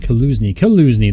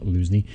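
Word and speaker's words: Kalužný: Gonna pronounce it Kaluzny. There you go, not Luzny.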